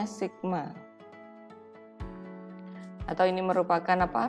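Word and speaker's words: σ: Miu dan standar deviasi ini dibacanya Miu ini dibacanya Sigma Hai atau ini merupakan apa rata-rata dan Sigma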